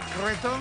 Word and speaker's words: cretón: Oye, hay que pronunciar bien el cretón, ¿no? El cretón tiene que poner la O un poco gangosa. Cretón. Cretón. Cretón, y ahí sale. Cretón. Es como huevón.